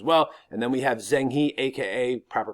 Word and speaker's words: Zheng He: And then we have Zheng He, aka proper pronunciation Zheng He, who is sent out by the Ming dynasty or the Ming Empire, who take over after the Mongols.